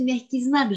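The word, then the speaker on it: мягкий знак: Ah, mais qu'est-ce que tu as bien prononcé, Merkiznak, j'hallucine.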